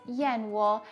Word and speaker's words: 燕窩: years now in mandarin swallow bird's nest is pronounced as yin wool and it's literally known as caviar of the